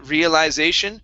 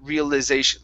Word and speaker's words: realization: on the say always but you can say i realization or realization like a the real and use the schwa sound for the eye so you can either use a long i sound for the eye or a schwa okay but the stress is always going to be on the say realization or realization realization yeah either